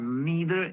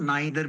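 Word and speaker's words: neither: poor children poor children have नेदर internet access नर स्मार्टफोनस हां children have नीदर internet इसको नीदर भी pronounce करते हैं और नाइदर भी करते हैं दोनों करेक्ट है पुर चिल्ड्रन हैव नीदर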